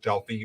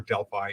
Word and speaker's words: Delphi: Apollo who lived in a town called Delphi or Delphi either pronunciation is okay increase and for nine